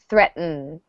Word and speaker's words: threatened: threatened threatened from yeah notice that the second T kind of goes away we have threat and the t's we don't really pronounce it threat mmm brother yeah so focus on that end sound it's going to